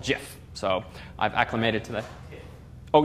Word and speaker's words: GIF: googling and some Wikipedia the founders call it jiff so I've acclimated today